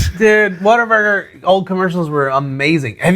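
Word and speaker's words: Whataburger: So, I guess technically it is what a burger. What a burger. But if you're from here, it's water burger.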